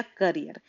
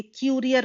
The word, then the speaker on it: courier: तो ये गलत हो गया, ये क्यूरियर हो गया, ऐसा कोई वर्ड नहीं होता है। सही शब्द होता है कुरियर, तो ये नहीं है, ये गलत हो गया।